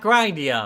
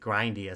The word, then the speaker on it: Grindea: That's to the first boss battle in uh Grindia. Not Grindia apparently. At least again according to the YouTube video I watched on it. Although I think Grindia sounds a little bit better.